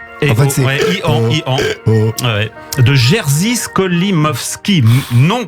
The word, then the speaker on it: EO: Alors, je sais pas comment le prononcer. Et En fait, c'est Ian.